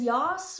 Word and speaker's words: yas: There's yas, which is usually written, you don't usually say it, but it feels weird saying it. It's spelled Y-A-S-S.